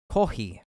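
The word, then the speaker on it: コーヒー: in elegant tea ceremonies kohi or kohi is the Japanese pronunciation for coffee is very popular in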